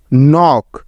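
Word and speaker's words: knock: no knife K এন আই এফ E knife নক কে এন ও সি কে নক NEET K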